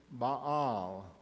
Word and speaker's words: Baal: they pronounced it Yahweh the other was the popular god of the Canaanites ba or as they pronounced it Baal Yahweh was worshiped and